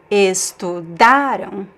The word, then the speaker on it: estudaram: So this first word, pay attention to the stress is in the syllable, in the middle syllable, the second to last.